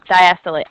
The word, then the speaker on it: diastole: want to but you just usually hear it pronounced systole and diastole I would never correct you if you said